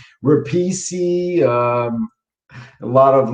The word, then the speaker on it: Repice: on the screen but it replicated how my my my family pronounced italian last name that's been butchered my whole life uh rapisi um a lot of